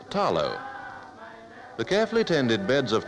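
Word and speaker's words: talo: the Samoan diet is the Taro pronounced here with the L as tallow the carefully attended beds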